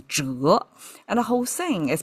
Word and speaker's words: 宅: Well, it turned out it's pronounced as zhái, and the whole thing is pronounced as zhái, and it means residence.